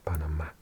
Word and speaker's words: Panamá: In Spanish, the stress is on the A, so you actually say Panamá.